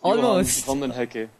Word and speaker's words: Johan van den Hekke: I'm your host Tushar, and today we are with our very special guest, Johan van Did I pronounce it right? Almost. Almost. Johan van den Hekke. Yeah, Van den Hekke.